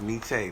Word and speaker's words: Nietzsche: Nietzsche, Quayshawn says Nietzsche. That's how you Nietzsche?